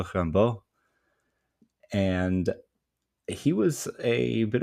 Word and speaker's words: Rimbaud: And you probably at this point know that I'm referring to Arthur Rembo or for the more French pronunciation Rambo.